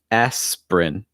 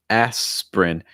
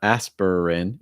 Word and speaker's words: aspirin: here for the medicine aspirin aspirin notice it goes right from the s right to the prin aspirin so it's not aspirin it's just aspirin aspirin for the medicine